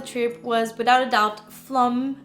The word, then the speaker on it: Flåm: was without a doubt flum I think you pronounce it like this there we caught a